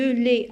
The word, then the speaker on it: lait: De lait, AI, je la prononce comme E, ET.